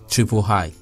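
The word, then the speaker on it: JST-III: is the gst iii for the purpose of this recitation shall be pronounced as triple high with hair actuated jst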